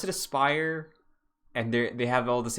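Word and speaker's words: Aspyr: haven't pronounced it uh a-s-p-y-r is pronounced aspire which makes so much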